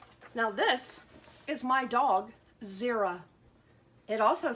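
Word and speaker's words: Xera: with it starts with it sounds like is it start with the Z but it really starts with an X see this is how you spell her name X e ra but you pronounce it Zira okay let's see what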